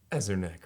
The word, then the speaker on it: Ezerneck: It's Ezerneck, right? Exactly. I'll let you say because I don't want to say it wrong. Ezerneck, right? That's right. I hope I got your last name right. It's Ezerneck.